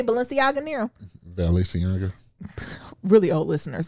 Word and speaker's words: Balenciaga: be like Gucci and how you say Balenciaga Nero.